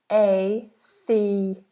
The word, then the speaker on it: atheist: And the pronunciation of that is diphthong, atheism, atheism, and atheist. Atheist. Atheism, atheist.